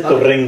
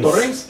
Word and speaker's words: Torrens: Bueno, que yo recuerde, Elsa Torrens, o Torrens, no sé cómo se pronuncia. Sí, así se dice, Torrens. Torrens.